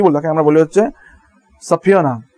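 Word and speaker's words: subpoena: তাকে আমরা কি বলবো, তাকে আমরা বলি হচ্ছে সাফিয়ানা, উচ্চারণ খুব সুন্দর, সাফিয়ানা, ওকে, সাফিয়ানা, অনেকে বলে সাফিনা, ওকে, সাফিনা, ওকে।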